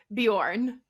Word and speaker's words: Bjorn: I think it's pronounced Bjorn. Which, yes, correct.